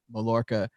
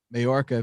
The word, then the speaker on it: Mallorca: days right here at Mallorca Majorca BC I keep saying it wrong cuz it says two L's not a why and then there's Majorca